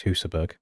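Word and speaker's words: Husaberg: Hassleberg or Hustberg? I've definitely heard people say both. It's Hussberg. The actual pronunciation.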